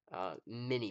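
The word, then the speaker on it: minié: it was mini and it's pronounced in like just regular ol American minie ball and so it had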